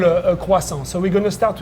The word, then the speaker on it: croissant: lot of people go croissant, but Yes. it's croissant. Croissant. Croissant. Croissant. Croissant. Yeah. And if you can say it, The T is silent.